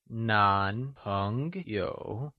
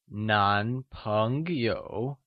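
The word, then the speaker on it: 男朋友: Boyfriend, or male friend is translated as Nánpéngyǒu Again, Nán means male or man, and is pronounced with a mid rising tone, Lets try and say Nánpéngyǒu Wonderful!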